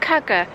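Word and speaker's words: Kuggar: Like Andrew always makes his stupid joke about cugger rhyming with mugger.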